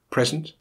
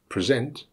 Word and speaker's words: present: of the stressed syllable when words are both nouns and verbs for example present and present you will usually find that now has the stress on the first syllable and the verb has the stress on the second in words with just